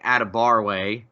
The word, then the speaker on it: Adebarwe: is Oklahoma commit Adeboje Adebarwe is how you say the last name.